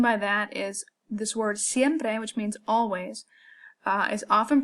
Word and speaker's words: siempre: is often pronounced by American speakers as siempre. They kind of do this long E, siempre, okay? We want to make it short, we want to make it crisp, we want to make it one single sound.